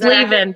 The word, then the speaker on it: Lavin: Well, Talia, is it Lavin? I'm bad at names and pronouncing them. It's Lavin, but nobody Lavin. ever gets that right.